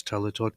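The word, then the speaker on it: טליתות: The plural of talit in Hebrew is talitot, pronounced talitot.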